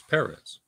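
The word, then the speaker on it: Pérez: that george perez um perez perez perez accent on the first d perez my apologies georgie you know george once it said right it's paris paris yes so so uh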